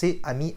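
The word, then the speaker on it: 아미: A R M Y And also Army in korean in pronounced " Ami" Ami...which is "friend" in French...Army..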